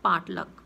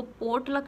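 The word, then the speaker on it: potluck: Next is पाटलक। पाटलक क्या होता है, इसको पोटलक नहीं बोलना है, इट इज़ प्रोनाउंस्ड एज पाटलक।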